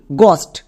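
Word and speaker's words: ghost: জি এইচ ও এসটি গস্ট। আমরা কিন্তু একে ঘস্ট উচ্চারণ করবো না।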